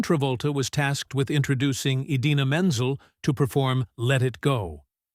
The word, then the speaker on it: Idina Menzel: At the 2014 Academy Awards, John Travolta was tasked with introducing Idina Menzel to perform Let It Go. Instead, he famously mispronounced her name as Adele Dazeem.